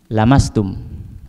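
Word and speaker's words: لمستم: riwayat bacaan yang lain bacanya bukanlah mastum tapi lamastum lamnya pendek lamnya apa pendek ya lama saya masuk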